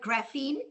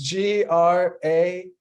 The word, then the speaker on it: graphene: And And can you tell us how to pronounce the word graphene? Can you spell that out for us? yes, it's graphene, graphene. It comes from graphite.